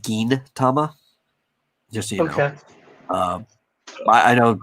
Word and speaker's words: Gintama: i i know uh sometimes when you see a g and an i next to each other you have the instinct of saying like j like giant uh but because the